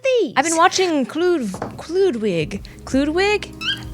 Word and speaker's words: Kloodwig: I've been watching include Ludwig Ludwig let me say it right cuz I don't want to disrespect I nailed it clewd wig she's a youtuber she's